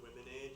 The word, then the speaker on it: Womenade: It's Oyster River Womenade. Thank you. But spelled like lemonade. Okay, Women, A-D-E. thank you.